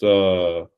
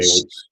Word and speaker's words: Jorge: Well, it's technically pronounced, Jorge, but Americans have trouble saying it, so they They call say it Jorge. George. Yeah, you could just call me George. It just sounds better.